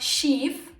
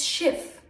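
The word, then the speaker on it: Schiff: of thumb for that if the consonant that comes after the vowel is double the vowel itself will be pronounced short example shift the consonant is double so the E becomes short it's not shiv it's shift because there's two F's if however the consonant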